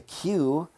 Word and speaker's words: Queue: It's a Q, which is spelled Queue.